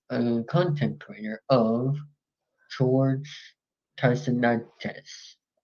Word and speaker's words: Tsahiridis: pronounced Tsahiridis.